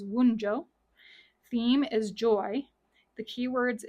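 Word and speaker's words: Wunjo: that W and V the pronunciation is wjo theme is Joy the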